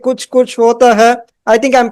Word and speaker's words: Kuch Kuch Hota Hai: have seen movies like Kuch Kuch Hota Hai. I think I'm pronouncing it the right way.